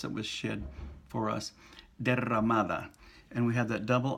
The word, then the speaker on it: derramada: Now, the pronunciation tip for today is essentially, let's have another look at the double R and the single R. We have the word derramada, shed or spilled, like